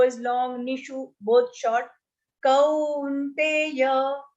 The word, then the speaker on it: Kaunteya: So when you say kau here, there is a one line matra after ka and then two matras on top. So that will be pronounced. Two swars are used in that, a and u. Kaunteya, u. So if you remember that, kaunteya will not. Don't say kaunteya because that will have only one matra.